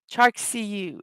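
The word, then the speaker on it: charcuterie: Chark CU is the approximate pronunciation.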